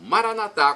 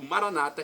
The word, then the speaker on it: Maranata: o seu bem e agora eu clamo Maranata como dizemos nós católicos ou Maranata como dizem nossos irmãos separados os evangélicos ou Protestantes resultado é o mesmo nas duas pronúncias significa vinde Senhor Jesus